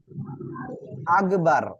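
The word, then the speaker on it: أكبر: আর সবাই ইনশাআল্লাহ আমার সাথে সাথে বলবেন আল্লাহু আকবার সবাই বলেন আল্লাহু আকবার আল্লাহু আল্লাহু আকবার দেখেন এখানে এই যে আল্লাহ শব্দের লাম এর লামে মোটা করে পড়তে হবে আল্লাহু আকবার আল্লাহু আকবার আল্লাহু আকবার দেখেন অনেকে কি বলে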